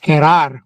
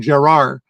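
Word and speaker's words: Jerar: I always wondered like that's not a Spanish pronunciation. I I I thought it was Herar when we first got him from the Marlins or wherever he was.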